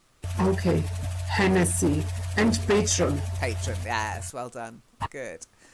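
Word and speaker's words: Patrón: And then patron silver tequila.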